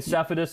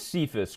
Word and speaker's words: Cephas: Okay, you keep saying Cephas. It is Cephas. Quintez Cephas, actually.